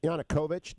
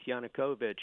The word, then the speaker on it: Yanukovych: want to say his name correctly yep Yannick Yanukovych did you deal with Yanukovych at all yes